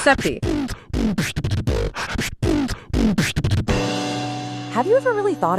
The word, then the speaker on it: Sappe: The active center is created by David Sappe. Pronounced Seppi. Pronounced Seppi.